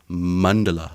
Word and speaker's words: mandala: are these it's not even that Andy it's mundela what's a Mandela uh in in uh Buddhism